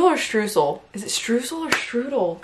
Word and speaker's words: Streusel: Strudel or streusel?